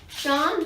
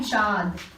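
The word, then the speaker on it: चाँद: Chand means moon, and it is not it's pronounced chand. It kind of adds the feeling to it. Chand, or else it'd be chad.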